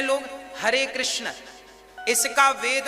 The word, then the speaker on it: कृष्ण: हां वेद मंत्र है ये शुद्ध उच्चारण इसका क्या है हरे राम हरे राम राम राम हरे हरे हरे कृष्ण हरे कृष्ण कृष्ण कृष्ण हरे हरे यह वेद मंत्र बोल